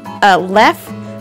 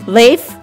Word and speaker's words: Leif: Whenever I see the combination I and or EI next to one another, I think of the little AI diphthong, the live.